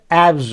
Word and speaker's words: abs: शब्द के अंत में यदि ये अक्षर होंगे तो उसमें यस या यस जोड़ने पर उसका उच्चारण ज होता है। ठीक ना। जैसे उदाहरण है ABS, बी, तो इसके बाद एस लगने से एब्स हो जाएगा।